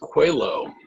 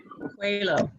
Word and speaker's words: Coelho: It's pronounced Coelho. Coelho. So I'm Coelho. not sure why, but that's how it's pronounced. Because it's Portuguese, and Portuguese is a lovely language, but very difficult to figure out.